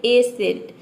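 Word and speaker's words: ascent: करते हैं तो देखिए आप देख सकते हैं कि एसेंट में हम एस को केवल प्रोनाउंस कर रहे हैं यहां पे सी को हम प्रोनाउंस नहीं कर रहे हैं एसेंट का मतलब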